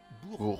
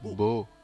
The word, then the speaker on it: Bourbeau: L'accent se place sur la dernière syllabe. Bourbeau. Bourbeau.